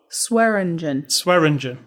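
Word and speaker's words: Swearengen: Swearingen. It starts with swear. It's the Chinese guy always said it wrong. Right, so. But I'm saying it starts with swear. SWEAR.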